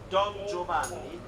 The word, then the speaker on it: Don Giovanni: So the character's name is pronounced Don Giovanni, and the composer is Wolfgang Amadeus Mozart.